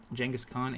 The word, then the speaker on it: Genghis Khan: Poke Guy says Genghis Khan is the correct pronunciation, and don't let anyone tell you wrong. Yes, definitely. Genghis Khan is absolutely the correct one.